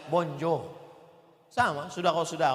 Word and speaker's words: bonjour: mirip-mirip Tanjungbalai juga Hai tulisannya bonjur membacanya Bonjour sama sudah kalau sudah